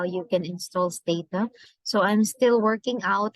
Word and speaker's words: Stata: So Stata, this is the pronunciation. This is based on Wikipedia. Stata, or occasionally or alternative um, um, pronunciation is Tata.